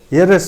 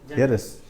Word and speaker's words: heiress: But here our Sir, the pronunciation of the third word is ear, ear, not here. Yes, not here. Heiress also. Gender change. Heiress. Here, heiress, but not here.